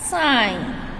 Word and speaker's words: sign: Similarly, the word sign, S-I-G-N, has the letter G in it, but is pronounced as sign.